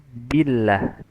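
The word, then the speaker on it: بِاللّٰه: Pada kata billah sempurnakanlah pengucapan harakat kasrah pada huruf ba. Jadi billah billah billah. Jadi yang bill ya harus sempurna. Auzubillah.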